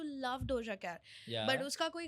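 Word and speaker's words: Laufey: That is वन and then have you told of this artist called leeway. Leeway no. Okay. Her pronounce her spelling is एल ए यू एफ इ वाई।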